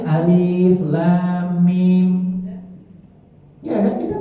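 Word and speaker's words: الم: Begitu disuruh baca alif lam mim, dia baca alama. Enggak boleh dibaca alama walaupun tulisannya itu aliflah. Harus bacanya alif lam mim.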